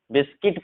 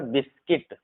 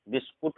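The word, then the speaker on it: biscuit: जैसे गार्ड पढ़ेंगे, गाइड पढ़ेंगे, गेस पढ़ेंगे, गिल्टी पढ़ेंगे, गेस्ट पढ़ेंगे, गिटार पढ़ेंगे, बिस्किट पढ़ेंगे, यहाँ पर बिस्किट, बिस्कुट नहीं पढ़ते, बिस्किट, ठीक है, बिल्डिंग, सर्किट,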